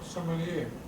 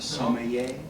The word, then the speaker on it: sommelier: sommelier. Sommelier. Sommelier. Hubert, can I pour some more? Sommelier, sommelier, Sommelier, right? Somebody pronounce it for me.